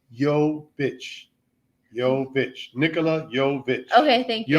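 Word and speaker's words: Jović: It's Jovic, by the way. You've been correcting me all night. It's Jovic. Okay, at least I can say guitar. So it's Jovic, pronounced Jovic.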